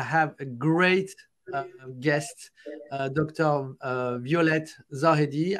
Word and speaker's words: Violette Zahedi: Violette Zahedi. I pronounce it like a French, you know, with my French accent. So maybe, sorry, I don't pronounce it properly. In French, we say Violette Zahedi.